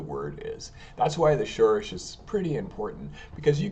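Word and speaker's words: שורש: Alright, so here we have the Shoresh. It's spelled in Hebrew, Shin, Vav, Resh, and Shin.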